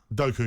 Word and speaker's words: Doku: How do you pronounce his name? Doku, is it? Doku, yeah.